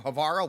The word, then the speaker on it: Havarl: You remember him from Havarl, which rhymes with Carl.